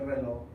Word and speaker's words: reloj: I sometimes do just to kind of get the point out that there is a J at the end. It's a Rolex. If I'm lazy, I just say el reloj.